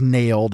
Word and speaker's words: naled: So the pesticide in question is actually the one that you can refer to as nailed. It's NALED, nailed. You can pronounce it either way.